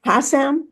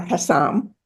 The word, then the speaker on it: Hassam: few paintings his child he liked his name pronounced either way Hassam or Hassam and he had a